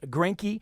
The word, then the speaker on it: Granke: And then we have on Twitter, her name is Melissa, and you pronounce her name as Granke.